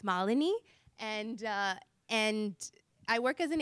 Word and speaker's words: Malinee: My role with SAP is I work as an HR business partner, and just so I pronounce my name correctly, so you all know it's Malini, and I work as an HR business partner,